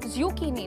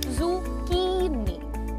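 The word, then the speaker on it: zucchini: ज़ुकीनी नहीं, इट इज ज़ुकीनी। ज़ुकी की पर एम्फसिस है, सो हाउ डू यू से इट?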